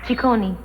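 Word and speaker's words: Ciccone: right yeah my father's Italian the name is pronounced tikoni strict family yes Barry in what way um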